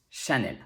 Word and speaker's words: Chanel: sounds like shi also e l at the end of a french word will be pronounced l even if there's no accent on the e there's a standard in